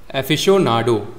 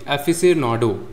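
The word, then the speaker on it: aficionado: पहला है आपका एफिशिएनाडो। एफिशनाडो सॉरी सॉरी एफिसनाडो इसका मतलब होता है एन एंथूजियास्टिक एडमायरर और फैन कुछ लोग होते हैं।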